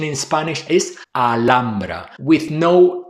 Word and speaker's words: Alhambra: In Spanish, the letter H is silent. You don't pronounce it at all. So, while in English, it's common to hear versions like alhamra or even halra.